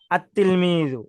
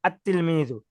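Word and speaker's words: التلميذ: দেখাচ্ছে লেখার নিয়ম কিন্তু আতলমিজু এভাবে উচ্চারণ হবে আতলমিজু লামটা উচ্চারিত হবে না দেখেন এখন লেখায় দেখেন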